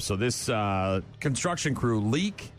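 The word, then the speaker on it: Leick: So, this uh construction crew, Leak, L E I C K, I think is how you might pronounce that. Leak Construction there in Glenwood, Iowa.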